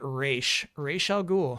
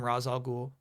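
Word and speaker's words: Ra's al Ghul: a suit I don't know man animated series pronounces it re rah ghoul huh the where did I get raz from oh the Hawaiian shirt yeah that's funny The Nolan movies call him Razal Ghoul.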